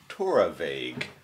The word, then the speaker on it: Torabhaig: more at the bar pronounce that tour of a Hague a Torah vague sure the BH is a v the torabag the 2017